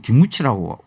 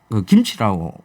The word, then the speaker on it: 김치: 그런 사람들 붙잡고 그 김치 가르치느라고 김하면 김, 치 하면 치, 김치, 그거 안타깝네요. 김무치 그게 안 돼.